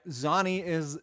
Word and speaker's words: Zani: Zani is how you say the vocalist's name.